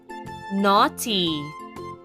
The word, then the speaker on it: naughty: the ship carries a lot of freight naughty n a u g h t y let's spell that again n a u g h t